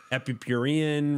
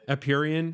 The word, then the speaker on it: Empyrean: Epipurian, right? Is that how you pronounce Empyrean. It? Empyrean. Empyrean.